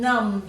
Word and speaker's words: numbed: would be known Tom numbed his sore knee with ice after his injury so remember you put one letter in each box don't forget you've got that silent B in there and then cross that